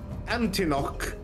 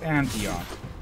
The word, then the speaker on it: Antioch: hand grenade from Oaf Antinok. I pronounced that right. And from Glacier Boy, that foot needs some moisturizing. I'll show him if moisturizing will help. And I believe the pronunciation is Antioch.